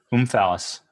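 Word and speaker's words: omphalos: one the fifth one o-m-p-h-a-l-o-s boom phallus uh that's how you pronounce it in english i i know it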